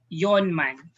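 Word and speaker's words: 四万: yawn so forth we have our four thousand yonman okay so it will become young man for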